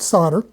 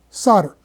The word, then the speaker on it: solder: Now, if you will simply look up on the internet the word solder, you will find that in North America, it is pronounced as if it is spelled s o dde er, solder.